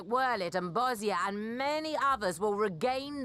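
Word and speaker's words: Bozja: provinces like wurlitz and bozia and many others will regain their freedom excuse me excuse me what do you mean bossia i have literally never heard anyone pronounce it that way not once ever when they do our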